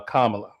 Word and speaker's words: Kamala: It's pronounced uh Kamala.